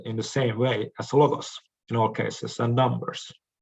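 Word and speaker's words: λόγος: and logos is that the accent lies on another syllable. That is, on the first syllable in logos and on the second syllable in agros.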